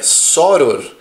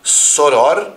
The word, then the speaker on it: soror: É soror, e você pode pronunciar soror ou sor.